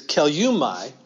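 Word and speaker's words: κελεύσματι: It's a little hard to pronounce, but it's kelumai. We don't see that, don't hear that S in there in the Greek.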